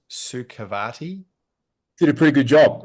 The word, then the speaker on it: Sukhavati: Speaking of your wellness journey, I'll try and pronounce it correctly. It's Sukhavati.